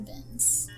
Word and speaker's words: Binns: Professor Binns. Bins? Binns. Spell it.